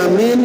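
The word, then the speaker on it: آمين: Nah, lihat ke 70-nya membaca amin dengan mad apa nih? Madjanakkan berarti apa? Amin. Mimnya k boleh bersabdu langsung aja. Amin. Nah, jadi membacanya a-nya panjang, mimnya pun panjang.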